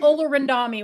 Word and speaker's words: Olorundami: Today we have Shawn Olorundami with us.